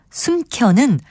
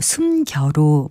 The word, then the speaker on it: 숨겨: 놨는지 잘 못 찾겠네 지금 들으신 예문에 나온 혼차 숨켜는 모두 주위의 음성적인 환경을 봐도 거센 소리로 발음될 이유가 전혀 없는 말들입니다 이것은 글자 그대로 혼자 그리고 숨겨로 발음하는 것이 맞습니다 그리고 외래어나 외국어 단어